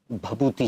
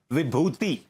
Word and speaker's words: विभूति: जी का भी है भभूति जी एक्सक्यूज मी आप मेरा नाम गलत प्रोनाउंस कर रहे हैं इट्स नॉट भभूति इट्स विभूति भभूति विभूति विभूति भभूति